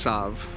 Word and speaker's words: salve: a Sal you rub it it's also technically pronounced Sav got him might need to fact check you